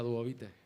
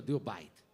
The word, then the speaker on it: Duobit: No os perdáis a Duovite. Ellos dicen que se llaman Duovite, pero yo pronuncio Duobite.